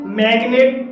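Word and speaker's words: magnet: अपवाद कहते हैं जैसे मैग्नेट मैगनेट में जी के बाद एन आया है लेकिन जी साइलेंट नहीं है तो ऐसे शब्दों को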